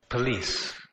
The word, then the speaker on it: police: అలాగే ఒక చిన్న విచిత్రం ఏంటంటేనమ్మా శ్రీరామమ్మ, మనకు తెలుగులో చాలా బాగా అలవాటు పోలీసు అని అలవాటు, కానీ ఇంగ్లీష్ పోలీస్ కాదు, పలీస్. ఒకసారి వినండి, police, police, police.